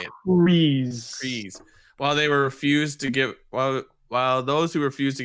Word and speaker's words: Kryze: Kryze.